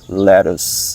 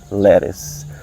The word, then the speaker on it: lettuce: So in the Philippines, most of the Filipino people tend to say lettuce. Okay? So we cannot blame the Filipino. It's our local ter lettuce. But in an English, in a real English, they would say lettuce. Lettuce.